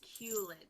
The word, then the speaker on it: culet: It's pronounced culet.